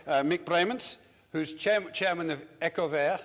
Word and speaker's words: Ecover: Bremens, who's chairman of Ecover, I'm supposed to pronounce it, or Ecover, as some of the Brits call it.